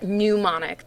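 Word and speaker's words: mnemonic: how you pronounce that pneumonic the m is silent and um it's any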